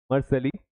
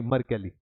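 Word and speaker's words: Mercalli: कौन सी स्केल होती मर्सली स्केल होती है सॉरी मरकली इसको कैली प्रोनाउंस करेंगे तो मरकली स्केल होती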